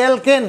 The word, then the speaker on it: alkane: এই যে অ্যালকেন বানানোর মধ্যে অ্যালকিন, এটা অ্যালকিন, ওটা অ্যালকেন, ওটার উচ্চারণ হচ্ছে অ্যালকেন, অ্যালকেন কয়জফলা আকার দন্তন্য।